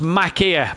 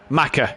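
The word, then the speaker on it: Machir: It's pronounced Makia, Matt. And also... Oh. It might be Macca. M-A-C-H-I-R. But then he says it's pronounced Macca, yeah.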